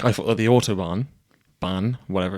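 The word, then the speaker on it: Autobahn: It sounds like you're saying autob. Yeah, but it's spelled that. I say autoban and it feels weird saying it because I've heard other people saying it and they say autob. It's b a hn.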